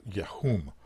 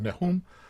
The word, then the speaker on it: neum: next word is uh yum excuse me neum I mispronounced neum which means an utterance